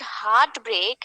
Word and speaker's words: heartbreak: heart break the word heartbreak has two syllables one is heart the other one is break we pronounce this particular word you will see that we give force on both the syllables we say heart break